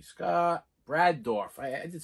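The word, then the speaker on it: Brad Dourif: Brad Dorff. I'm not even going to look it up. I always try to confirm. But, yeah. George C. Scott. Brad Dorff.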